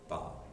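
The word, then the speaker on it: bas: is ba b s no s pronunciation ba so take a listen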